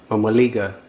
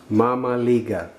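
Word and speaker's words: mămăligă: Well, so how do you eat the Romanian polenta or mamaliga? Mamaliga. That's how it's pronounced.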